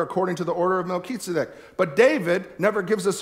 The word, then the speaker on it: Melchizedek: kitsubik and he said it this way is Melchizedek all right all right the Lord is at